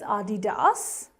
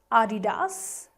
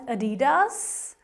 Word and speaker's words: Adidas: Well, the correct German pronunciation is Adidas, Adidas. But usually English, US or UK people, usually they end up pronouncing it as Adidas.